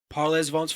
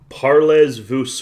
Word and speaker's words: parlez-vous: Parlez vous French. But the Z and the S are both silent in that case.